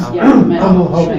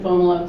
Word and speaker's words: Fomalhaut: You pronounce it Fomalot. See, Haut means whale. okay. Yeah, because there's I've seen different pronunciations, and the two I see are Fomalo or Fomalot.